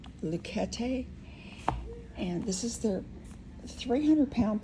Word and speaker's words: Luchetti: Luchetti is what they said on the instructions how to pronounce it. Luchetti, and this is their